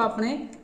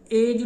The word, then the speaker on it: a: ए नू Deir students असी बोलना है अ यदि सही जी प्रोनाउंसीएशन है वो अ है ना कि ए दिस इज ए पेन